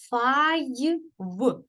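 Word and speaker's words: five: і в е фіве пишеться але оскільки останній німий не читається він впливає на попередній звук і він читається як а й тому виходить Файв файлів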